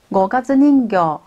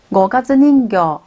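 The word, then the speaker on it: 五月人形: 五月人形的日文呢是念作五月人形，五月人形。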